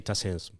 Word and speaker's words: TACEESM: We say TACEESM.